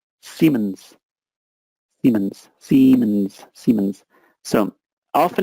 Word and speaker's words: Siemens: Next, just for pronunciation here, it's Siemens. Siemens.